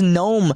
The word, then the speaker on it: GNOME: walk up the street think it's good gnome and again according to the developers now it is but used to they said it was gnome with the G being silent and you know with